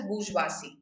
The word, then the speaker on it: bourgeoisie: with the bourgeoisie today this is pronounced as burjwasi okay now what is